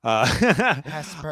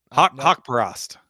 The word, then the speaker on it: Haqparast: I have his name spelled phonetically here. Hesper. Nope. Nope. Haqparast.